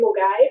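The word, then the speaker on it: Milngavie: Way actually starts from my hometown, Mulgai, which interestingly does not sound like Mulgai when you look at it. It's Millengaby is how it's spelled.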